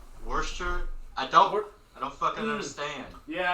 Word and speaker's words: Worcester: It's spelled like Worcestershire, but it's actually just called Worcester.